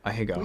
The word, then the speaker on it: ahegao: No, ahegao. We are looking at how to pronounce How to this pronounce Japanese this Japanese word.